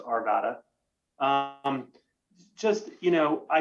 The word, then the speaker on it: Arvada: one point of clarification you got to say arvada um yeah you push my buttons when you mispronounce our city's name yeah it's not a good thing all right it's just it's our vata my apologies i've been